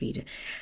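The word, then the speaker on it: Rieder: I'm sure it's pronounced reader.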